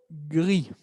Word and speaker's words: grise: Entonces, el primero, gris. ¿Cómo piensan que va a ser el femenino de gris? Va a ser gris. Gris. Y vamos a escuchar al final una Z.